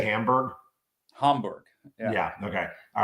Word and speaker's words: Hamburg: Hamburg.